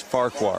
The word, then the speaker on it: Farquhar: By the way, the guy coming to the plate, think Shrek. Farquhar. I know you don't have kids. Farquhar. There we just go. 2 syllables.